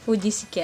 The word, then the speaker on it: Vujicic: Nick fujisick vuejs Fuji Tapi bacanya kayak Nick Vujicic ya Oke sorry karena bahasa